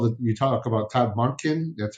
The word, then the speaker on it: Monken: week but also that you talk about Todd monin that's how is that how you pronounce it monin correct he's a Chicago guy he did well